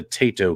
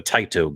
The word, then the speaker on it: Taito: here's your codes for the tato games right or the taito games geez if you say it wrong there's always someone who